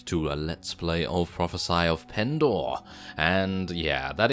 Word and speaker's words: Prophesy: Hello reformers and welcome back to a let's play of Prophesy of Pendor.